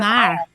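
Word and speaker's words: fhear: So FH, that's always a silent graph. It's not sounded.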